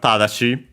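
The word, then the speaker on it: ただし: tsukaisute da Uh first we have tadashi. This word should have seen before uh not sure if in this series, but in general at the very least a conjugation which means however but uh accent on the first mora.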